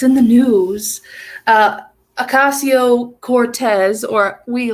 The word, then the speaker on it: Ocasio: Ocasio Cortez, or we like to call her Asiago Cheese Sniffer Cortez, just because that's just me. The first time I ever pronounced her name wrong, I said Asiago for some reason.